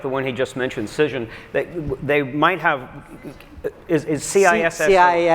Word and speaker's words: Cision: And companies like the one he just mentioned, Cision, they might have, is CISS? CISION, like vision, but with a C.